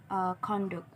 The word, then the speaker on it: conduct: Don't confuse written no conduct, which may somebody behaviors. This is the verb conduct. This chart the second syllable.